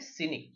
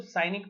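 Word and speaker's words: cynic: Next आते हैं सिनिक। कुछ लोग इसको साइनिक पढ़ते हैं, इसलिए मैंने प्रोनाउंसिएशन लिखा, बार बार मैं बता रहा हूं।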